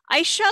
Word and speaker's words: Aysha: saying your name right aisha right am i saying it right yes you've said it okay thank you okay